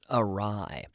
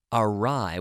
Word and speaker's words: awry: is to go awry awry and this is a strange spelling awry aw are Y awry we have a silent w awry to go awry